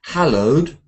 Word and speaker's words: hallowed: Rachel a mustach 11 we say hallowed but alowed people but leopard towed but vowed so lots of words